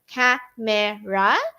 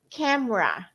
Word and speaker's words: camera: not in Filipino way CU in Filipino way you will have three syllables right Cera but we don't say that one in English we say camera camera just two syllables teachers not three okay next a